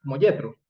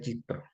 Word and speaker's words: Yitró: Este que lo traducen como Yetro, ¿vale? Pero realmente es Yitro.